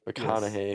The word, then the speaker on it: McConaughey: I thought it was we just butchered their names. Like it's actually disrespected. McConaughey.